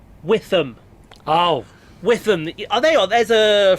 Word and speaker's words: Witham: Not Witten. Witham. Oh. Witham. Are they on? There's a 375 there. What was saying earlier? You kept saying Witten. It's spelt Witham, but it can be pronounced Witham.